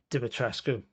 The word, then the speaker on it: Dimitrescu: probably a better villain than Lady, I can't pronounce her name. Dimitrescu.